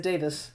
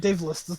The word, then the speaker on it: Davis: say is Gable Davis you said his name wrong but yeah I just can't believe us no you said Gable daveless I said Davis shut up move on he said he said Dave list oh you want to